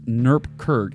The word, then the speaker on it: NuGet: yes developers garage absolutely John Galloway says it's pronounced Newark Kirk hey John Galloway thanks